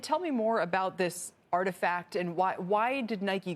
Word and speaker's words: RTFKT: adidas nike has purchased rtfkt pronounced artifact studios they have purchased